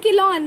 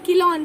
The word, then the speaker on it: Chelone: इसके एग्जाम्पल्स क्या क्या है, देखो किलॉन मतलब कि टर्टल, किलॉन CHE, देखो फिर से किलॉन है, CHELONE, किलॉन टर्टल, किलॉन टर्टल. फिर testudo, TESTUDO, testudo tortoise, T से टेस्ट्यूडो टॉर्टोइज. किलॉन है टर्टल, किलॉन टर्टल, टेस्ट्यूडो टॉर्टोइज.